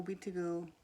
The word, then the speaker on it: Wihtiko: The Wihtiko is how you say it in my Cree dialect.